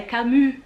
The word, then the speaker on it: Camus: falei para ele mas por que só cami não não se pronuncia é camu é porque como faz o